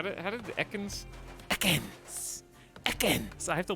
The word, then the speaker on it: Ekans: Ekans! It's like a hard S at the end. All right, that's all I got. It waits on the S. It's like a separate syllable.